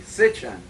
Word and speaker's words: Sitchin: Zechariah Sitchin. Without the T. Sitchin. Sitchin.